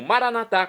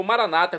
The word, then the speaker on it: maranatá: E agora eu clamo maranatá, como dizemos nós católicos, ou maranata, como dizem nossos irmãos separados, os evangélicos ou protestantes.